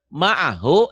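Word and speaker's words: مَعَهُ: Maksudnya ma'ahu itu kalau mau nyambung dengan berikutnya. Ma'ahu, yadahu, walahu. Ma'ahu, yadahu, walahu, yarohu, itu semuanya panjang.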